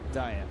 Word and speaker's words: Diaz: nights like this that we're mispronouncing his name and it should be diaz his family as he explained in that tape that was while he was with the pirates early last year has always pronounced it diet so he apologized for